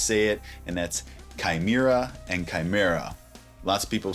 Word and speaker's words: Chimaira: Chimaira. Chimaira. Chimaira. There's also 2 other, in my opinion, totally acceptable ways to say it, and that's Chimaira and Chimera.